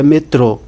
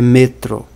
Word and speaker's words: metro: nem discutas é discutas sobre o metro se a sílaba tônica fosse no o a pronúncia seria metrô mas a pronúncia é metro e aí sim nós